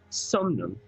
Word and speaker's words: Somnum: Arum Somnum. And it is spelled A-U-R-U-M.